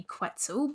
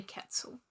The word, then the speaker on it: quetzal: is the resplendent Quetzal so it's spelled qu et al so it sounds like it should be quetzel but it's actually Quetzal um a little bit